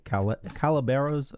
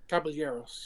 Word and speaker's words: Caballeros: Oh, actually, I think they just announced a sequel to the three how do you say Calaberos? I can't. Caballeros.